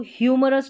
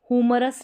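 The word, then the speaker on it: humorous: ह्यूमरस, इसको ह्यूमरस पढ़ेंगे, हुमरस नहीं पढ़ेंगे, ह्यूमरस।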